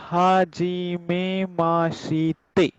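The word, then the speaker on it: はじめまして: सो ये पूरा बन गया हा जी में माँ शी ते। हाँ जो जी आपने मैं नमस्ते। यस सर यस। कल आपने कहा था वो हाजिमे माशीते। हाँ, इसका प्रोनाउंसिएशन होता है हाजिमे माशते।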